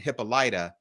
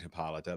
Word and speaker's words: Hippolyta: fact that George and Hippolyta, some people would pronounce it Hippolyta, but they actually were producers of the Green Book.